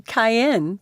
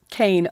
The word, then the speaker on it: Kane: your face every time i call you cayenne that makes it worth it cass said as she stood arching her back can i bribe you to pronounce it like kane the correct way kane arched his brows for